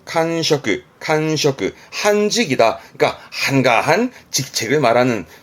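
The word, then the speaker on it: 閑職: 직업의 직, 발음은 칸셔크, 한직이다. 그러니까 한가한 직책을 말하는, 별로 좋은 뜻은 아닙니다만 칸셔크 씁니다.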